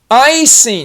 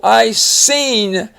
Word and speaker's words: icing: Here's an interesting one. Icing. Even though that I is the only letter in that syllable, it's long because it's at the end of its own syllable. Icing. And you have the S.